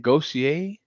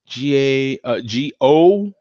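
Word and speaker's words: Gösser: Is that how you say it? Gossier? Gosser, but it has those above the O, the two little dots above the O there.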